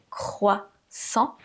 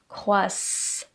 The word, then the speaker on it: croissant: C'est pas "kwa", votre gorge doit vibrer. "Croissant". Et ensuite, on a le son "oi". Ça, je pense que c'est pas trop compliqué : "croi". Le double "S" qui se prononce ssssss et pas "croizant". Le "A" nasal qui forme la voyelle nasale "an" "croissant" et le "t" qui est muet. Ne prononcez pas le "t" à la fin de ce mot, "croissant".